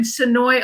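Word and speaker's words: Senoia: And I noticed Frank and Tina saying you work in Sonoy almost every day. Love that, because that's a big area where The Walking Dead is filmed. It looks like it should be pronounced Sonoya, but it's Sonoy.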